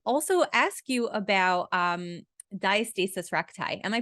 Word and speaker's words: diastasis recti: I want to also ask you about um diastasis recti am I pronouncing that right yeah totally okay so I